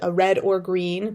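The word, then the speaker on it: Read or Green: So, and I actually designed book covers for a poetry publisher called Red or Green, but Red is spelled READ, like I read a book.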